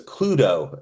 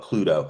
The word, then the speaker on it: Cluedo: You go to Europe, you buy the board game, for some reason it's called Cluedo. I don't I don't know why. Cluedo, like Pluto?